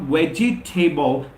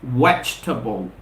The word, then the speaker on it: vegetable: talking about that word quite frequently it's not vegetable remember the second we have we have in the spelling of wedgie table exquisition it's silent it's doubt is inactive so the correct pronunciation is not vegetable it's vegetable vegetable vegetable vegetable vegetable and it's not family